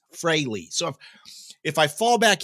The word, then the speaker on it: Frehley: and it is pronounced fry all of us grew up calling him Ace Freely but it's Ace Frey so if I fall